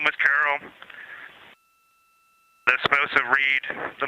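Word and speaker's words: Carroll: And we would like to call it Carol. And you spell that C A R R O L L.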